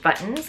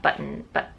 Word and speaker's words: buttons: I know on the podcast I always pronounce the T's buttons, because I feel like normally when I say buttons, I say buttons. I was always raised to say buttons, like it sounds like B-O apostrophe N-S, buttons, and like mittens.